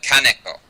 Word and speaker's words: Kaneko: Well, I pronounce it as badly as anyone else, but it's Kaneko.